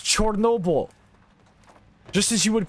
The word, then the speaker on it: Chernobyl: Chernobyl. No. It's Chernobyl. That's the place's name in its native tongue. We don't say Constantinople anymore, do we? It's Chernobyl.